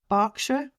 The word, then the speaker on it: Berkshire: And actually back in England, we would pronounce that Berkshire, not even Shire. That Shire pronunciation, again, is a very North American thing.